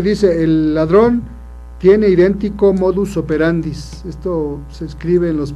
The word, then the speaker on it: modus operandi: y buscan, dicen, el modus operandis, y no, en realidad lo correcto es modus operandi, el modo de operar, el modo de actuar. Lo correcto es modus operandi.